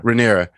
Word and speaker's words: Rhaenyra: Rhaenyra.